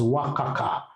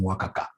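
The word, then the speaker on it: WACC: that M you should be pronouncing this as Waka pronounce this as waka waka no that is very unprofessional how do you call this thing wakaka right great great so wakaka is equal to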